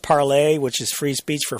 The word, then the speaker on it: Parler: Yeah, this is Rebecca Mercer, and this is one of those deals that literally, Parler came out of nowhere. And I think it's supposed to be pronounced parlay, which is free speech for French.